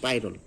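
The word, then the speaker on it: pyrrole: পাইরল বলে অনেক সময়, ইংরেজি বলে পাইরল, পিরল উচ্চারণ করেন কিন্তু পাইরল।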